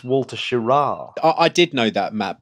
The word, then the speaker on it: Schirra: out oh by your your pronunciation of Walter shear oh here we go whoo we called Walter ship we called him home you know he was our astronaut of the week but it's Walter schirra I did know that